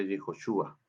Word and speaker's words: Yehoshúa: hay un breve comentario se pronuncia así porque la letra j no existía se inventó después en